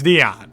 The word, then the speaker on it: Dion: Rhymes with Keon Ellis, but but it's Dion.